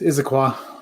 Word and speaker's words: Issaquah: It's Issaquah. Issaquah. It's Issaquah. Yeah, you're right. Is it? Yeah, it's Issaquah.